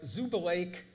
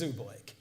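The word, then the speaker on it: Zubulake: the United States involving Laura Zuba lake or Zuba Lackey depending on how people pronounced it till they finally learned when she went out on the lecture circuit herself that it was Oobleck a profound contribution to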